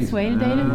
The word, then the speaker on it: Swaledale: Swaledale?